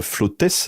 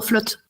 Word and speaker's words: Flottes: Alors euh euh tu nous parles de ces euh tu nous as parlé très rapidement d'Alexandrine Flottess. C'est ça on prononce le s non ? Flotte. Flotte. D'accord.